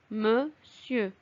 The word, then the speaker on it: monsieur: Attention, le nom monsieur se prononce monsieur. On l'écrit M-O-N-S-I-E-U-R, mais on le lit monsieur.